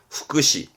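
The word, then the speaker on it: 副詞: 후크시. 조사죠.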